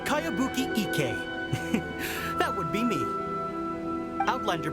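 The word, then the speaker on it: Kayabuki Ikku: By Kawabunga Iki. Yoimiya, this is a really strange name. Who's this Cowabunga? It's pronounced Kayabuki Ike.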